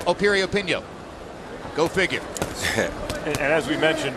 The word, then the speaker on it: Piriyapinyo: hand against a hard guy sunlit on a period pinko opinion once again the name begins with a P but it's pronounced Opie reopen yo go figure as we mentioned earlier what a